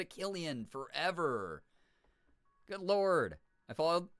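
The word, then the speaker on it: Cillian: I pronounce it wrong on purpose because he's my sister's celeb crush, so I don't know how to actually pronounce it. Well, now we know. It's Killian.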